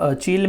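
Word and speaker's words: Chile: the president of conference of parties 25 वॉज चील, या फिर जिसे चीले भी कहते हैं स्पेनिश प्रोनाउंसिएशन में, बट द इवेंट दैट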